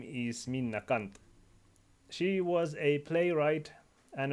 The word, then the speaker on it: Minna Canth: as equity anyway in finnish her name would be pronounced min nakant but i don't want this video to be flak by youtube profanity filter or something so i will be intentionally mispronouncing her last name throughout the video as min nakanth but obviously use the